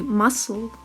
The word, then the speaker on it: muscle: Запомни слова soccer, soccer и muscle, muscle. Исключение.